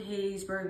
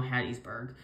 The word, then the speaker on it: Hattiesburg: as Laurel and um it doesn't include hayesburg but probably east of Hattiesburg it is currently um actually now Hattiesburg um weird thing yeah I'm sorry guys I mispronounced that but um like I